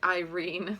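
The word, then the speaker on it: Eirene: find out let's see she's pronounced i irene not orlean you can look up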